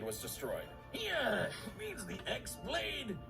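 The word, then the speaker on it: χ-blade: destroyed yeah means the x-blade it's just pronounced like keyblade even though it's just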